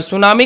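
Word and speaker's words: tsunami: awareness दे पांच नवंबर सुनामी का spelling T से होता है टी साइलेंट राहत है ठीक है तो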